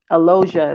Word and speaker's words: Elogeia: means life born um elosia is how you pronounce it and trust me I